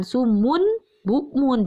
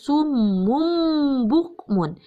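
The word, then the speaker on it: صُمٌّ بُكْمٌ: Jadi jangan sumun bukmun, jangan jelas, tapi harus summum bukmun. Berubah menjadi M.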